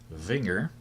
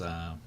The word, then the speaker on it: Wenger: So today I am wearing the Wenger. I think that's how you pronounce it. And it's Wenger.